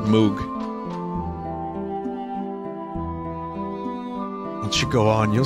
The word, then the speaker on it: Moog: on a second people pronounce it Moke or MOG I've always said Moog and should go on